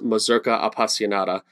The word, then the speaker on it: Mazurka Appassionata: And you've just heard Lyra Carmer perform Agustin Barrios Mangore's Mazurka Appassionata. And did I pronounce that correctly?